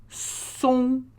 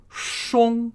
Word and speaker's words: 松: So the central word in this is song, song, song, S-O-N-G with the first tone, song. So notice, it's an S, not an S-H. So not shong, right?